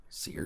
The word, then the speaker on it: Saoirse: name is pronounced seer Saoirse so you're so Ronan uh yeah how do you pronounce the sailors layered well I saw on wikipedia that Irish people pronounce it saoirse see her but she would say